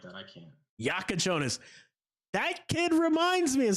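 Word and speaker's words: Jakučionis: Have you been able to pronounce that kid's name yet? Is it like Kasparis Yakuchonis or something like that? Yeah, Yakuchonis.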